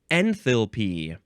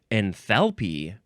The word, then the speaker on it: enthalpy: Next is enthalpy or enthalpy. Enthalpy or enthalpy. It's spelled like it sounds.